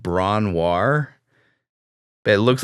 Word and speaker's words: Bron-Yr-Aur: Was another cottage, I think called Bronwar. But it looks like British name. It looks like, I think it's Welsh. It looks like BRON-YR-AUR. Man. And it's pronounced Bronwar.